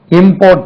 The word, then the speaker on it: import: இம்போர்ட் பண்ணணும்ப்பா, அப்படி கிடையாது. இம்போர்ட். Stress lies on the second syllable.